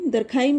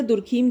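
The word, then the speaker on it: Durkheim: दरखाइम या दुर्खीम, जो भी आप इसे प्रोनाउंस करना चाहें।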